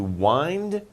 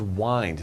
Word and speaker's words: wind: twist right and to wind they're kind of similar uh this is wine not wind okay spelled the same but different pronunciation twist means to twist